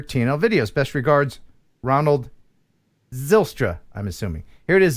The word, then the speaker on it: Zijlstra: I bet the J is silent, so I would say you were close. Zilstra. Oh, yes, it probably is Zilstra.